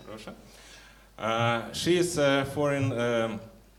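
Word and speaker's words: Roșta: Is my pronunciation correct? Yeah, ROŠTA.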